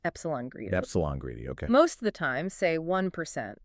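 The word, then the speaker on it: ε-greedy: One popular one is A greedy, pronounced epsilon greedy.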